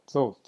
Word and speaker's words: Thoth: In the way that you would pronounce the word oath. Okay, so Thoth.